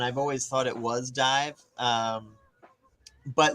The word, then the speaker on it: DIIV: I'm gonna tell you the answer it's pronounced dive um and it's cool because uh they were